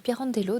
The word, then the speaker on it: Pirandello: Piron Piran d'log j'ai toujours du mal à prononcer son nom plutôt à mon à mon souvenir donc c'est Luigi Pirandello donc on poursuit donc toujours la lecture de